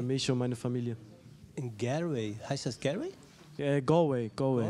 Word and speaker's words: Galway: Das ist ein A, oder? Galway. Ah, ich kann es dir gar nicht genau sagen, wieso, aber es wird auf jeden Fall Galway ausgesprochen.